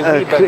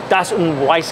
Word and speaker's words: Weiss: clear glass Weber glass how do you say Weber glass oh that's um we you mean you mean uh Starfire yeah Vice glass wice glass wice glass D Weiss glass and three-sided and then